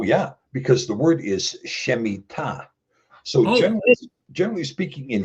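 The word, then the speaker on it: שמיטה: Because the word is shemita. So generally generally speaking in Hebrew you the the emphasis is going to be on the ultimate syllable.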